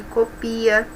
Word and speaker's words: copia: Cópia e copia, uma é substantivo, outra é verbo. Observe que a pronúncia é diferente.